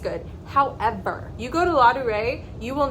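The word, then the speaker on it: Ladurée: So first up, we have La Durée.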